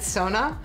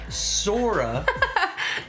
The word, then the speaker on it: Sora: Yeah, but it sounded like you said Sona. Sora. Kasugano. Sora and Kasugano. Its origin is Yosuga no Sora.